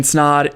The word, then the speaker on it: Snaadt: My name's Snaadt. It rhymes with odd, and welcome to another video.